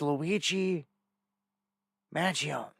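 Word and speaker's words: Luigi Mangione: the love much love God bless this is Luigi Magan that's how you say it um this is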